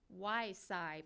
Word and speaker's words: Y-Sci: Next week, the State Department's Lions Africa program is launching its first ever Y-Sci program, which I thought was cute, rhymes with Wi-Fi.